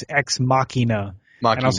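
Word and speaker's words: Ex Machina: today I mispronounced it I pronounced it uh x x uh Machina but it really this guy corrected me today at work it's exmachina and I was like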